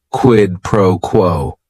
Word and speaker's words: quid pro quo: It is 3 words. Each word is only 1 syllable. And if you're saying it together, the stress is kind of on that first word and that last word, quid pro quo.